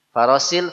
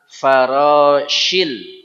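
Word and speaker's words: الفراش: Ini dia hurufnya shin. Farosil, farosil salah. Faroshil.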